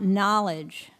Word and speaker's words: knowledge: nervous at the beginning what else do you see in that word that K that's silent K at the beginning that is an anglo-saxon